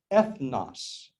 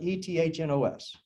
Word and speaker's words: ethnos: nations it means gentiles the greek word is ethnos we would spell it e-t-h-n-o-s ethnos you think can you think of an